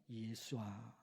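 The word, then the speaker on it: ישוע: 정확하게 바라하 예수스 그리고 구약 성경 언어인 히브리어로 발음하면 예수아 예수아 우리말 성경에는 여호수아 구약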